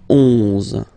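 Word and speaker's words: onze: Then 11, 11, okay? So O plus N give you the sound on, 11, 11, okay? Final E doesn't exist phonetically.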